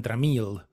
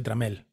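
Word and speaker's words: Trammell: sea a eso llegó Porque todos los Yankees eran tramild y se dice tramel así que bueno Juan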